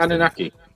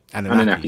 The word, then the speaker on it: Anunnaki: for this evening, which is the Anunnaki? That's how it's pronounced. Anunnaki. Anunnaki.